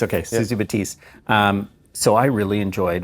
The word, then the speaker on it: Batiste: pourri um what's how do you say cheese batiste okay susie batiste um so i really enjoyed what she had